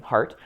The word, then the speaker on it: Hardt: JHARDT, D is silent, silly Germans, right? It's the German name, Hart.